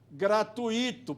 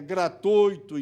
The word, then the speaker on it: gratuito: as pronúncias defeituosos e já não há entre nós quem diga e Deus seja louvado gratuito porque todos sabemos que a prosódia correta é gratuito intuito fortuito fluido ninguém